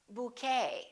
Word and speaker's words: bouquet: A few more ET endings. Bouquet, like a bouquet of flowers. Buffet. Valet. And one more, Chevrolet.